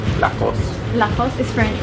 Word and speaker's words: Lacoste: Lacoste. So no E in the end. No. Lacoste. Remember? Lacoste. Or if you want to say it with like a little bit of a French accent, Lacoste.